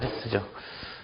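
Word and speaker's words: ἧς: 서컴플렉스와 강순표가 붙어 있는. 해가 아니고 헤스죠.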